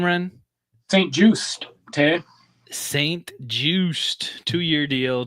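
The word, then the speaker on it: St. Juste: St. Just, Tay.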